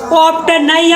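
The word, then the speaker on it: often: एन आ जाए तो टी का हो जात साइलेंट यहां टी ओ एफ टी एन का पी ऑफ नहीं पी का पढ़ भी ऑफन ओ एफ टी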